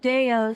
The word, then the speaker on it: 대호: 네, They pronounce it Deo, so that's how I'm going to pronounce it.